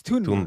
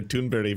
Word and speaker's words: Thunberg: So, because it was th rightberg, but it's Tunberg. Tunberg. Yeah. Okay. Okay. Yeah. Amy Good has been calling her Tunbury for so long.